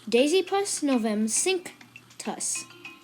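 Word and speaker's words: Dasypus novemcinctus: know but it's simple it is Daisy plus Novum sink toss in all Daisy Plus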